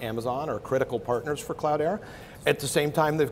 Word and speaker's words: Cloudera: Question on the name, Cloudera. Mm-hmm. It's spelled, it's actually cloud with ERA in the letter, so the cloud era.